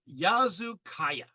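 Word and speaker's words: Yazılıkaya: we go this is the sanctuary site of yazu Kaaya that's spelled y a z i l i k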